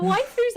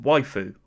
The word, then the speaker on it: waifu: The waifus are precious, man.